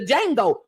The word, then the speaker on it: Django: Samuel Jackson from the Django the D is silent so it's just D